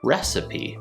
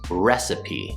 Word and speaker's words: recipe: word is pronounced recipe recipe so we have three syllables recipe we start with the